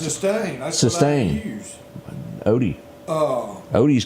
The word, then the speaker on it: Systane: They're doing a, how do you pronounce Systane. it? That's Systane.